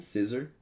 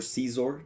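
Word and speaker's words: Scizor: have to scyther and scissor or caesar depending on your pronunciation jinx we don't talk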